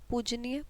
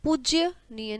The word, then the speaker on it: पूजनीय: जी को भी लाइए पूजनीय पूजनीय पूज्यनीय नहीं पूजनीय होता है आपका भविष्य उज्जवल है